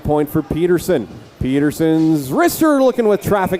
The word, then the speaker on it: Pederson: It is Matt Pederson, not Pederson. Like, it's spelled like Jock Pederson, so it's pronounced like Pederson, even though we have Jess and Andrew here.